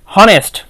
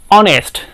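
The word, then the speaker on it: honest: টি আমরা উচ্চারণ করি অনেস্ট কি তাইতো তাহলে আমরা যেহেতু এখানে অনেস্ট উচ্চারণ করছি আমরা এখানে এইচ টাকে লুকিয়ে রাখছি আমরা ও দ্বারা শব্দটাকে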